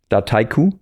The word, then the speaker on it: Dataiku: Um I think the original idea of our CEO and founder was Daiku meaning the combination of data and haiku. Haiku being the Japanese poem.